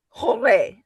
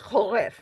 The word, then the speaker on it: Horef: H is Horai. Hore. Horef. Actually, it's Horef. And you may hear better pronunciations of that in your group.